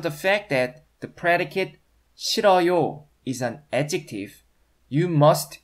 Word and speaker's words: 싫어요: It's actually pronounced 싫어요.